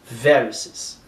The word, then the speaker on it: varices: O estresse está no I. Aqui é varices.